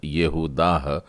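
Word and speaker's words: יהודה: आ जाता है, यानी पहला अक्षर य की बजाय ये होगा, तो यहूदा।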